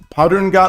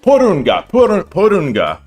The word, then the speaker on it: Porunga: Hi, is that Padunga? Let me look at this. Let me see if I can put this in and get a pronunciation. Porunga, not Padunga.